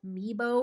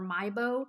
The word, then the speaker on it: Meibo: It's called Meibo or Mibo. It's spelled Meibo.